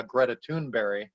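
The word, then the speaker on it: Greta Thunberg: had said earlier uh going to see uh greta tuneberry which is the correct pronunciation of her name in swedish by the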